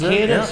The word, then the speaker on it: Kadis: okay cadis or cadis cadis is cadis all right because you know we French sometimes pronounce things differently okay yeah yeah so I